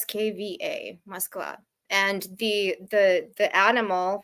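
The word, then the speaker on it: Москва: but what is it what how is it pronounced really mosa m o KV a mosa and the the the animal for all of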